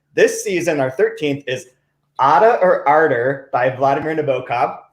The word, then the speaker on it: Ada: of fun things this season our 13th is otta or arter by vladimir nabokov first time i pronounced it correctly in the entire run of